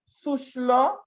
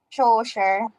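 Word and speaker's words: Schœlcher: formed by vic's victor susla i believe that's how it is pronounced no sir sure yes so sure something like that and the french anti-slavery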